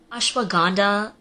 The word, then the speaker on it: ashwagandha: Like, ashwagandha and Himalayas, it's Himalayas, and it's ashwagandha.